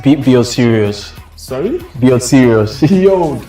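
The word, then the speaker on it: Sirius: dog star it's called serious so that's why I so how do you spell that s i r i u s serious yes S I thought it was like serious okay like some serious no no no no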